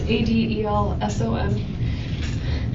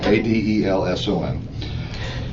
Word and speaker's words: Adelson: It's Adelson. Actually, it's spelled right. I said it wrong. Adelson.